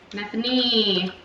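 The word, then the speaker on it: Nephenee: Nephanine. It's like Stephanie. Stephanie. With an N.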